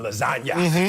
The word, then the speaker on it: lasagna: The G is silent, you know, in lasagna, you know.